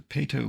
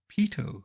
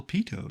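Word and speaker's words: Peyto: of them at the PTO Lake Viewpoint in baf national park by the way that should be Pito Lake it was Bill Pito not Bill P but even I can't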